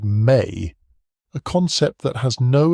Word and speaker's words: me: what the Sumerianss called the me, pronounced may, a concept that has